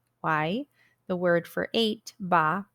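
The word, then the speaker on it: 八: the word for eight ba rhymes with the word for good fortune fah sticky rice flour really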